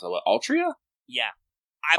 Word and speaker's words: Altria: What, Altria? Yeah. I Altria? also literally don't know, because the pronunciation is the same in Japanese. They just choose to Romanize it weird. It is weird.